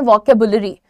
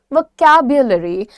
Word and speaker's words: vocabulary: इसका प्रोनाउंसिएशन नहीं आता, वो इसको बोलते हैं वोकेबुलरी। वोकेबुलरी नहीं है ये, दिस इज vocabulary.